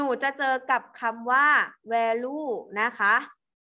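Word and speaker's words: value: เจอ กับ คำ ว่า แวลู นะ คะ อัน นี้ นาย ภาษา คอมพิวเตอร์ อ่าน ว่า แวลู นะ คะ ตอน นี้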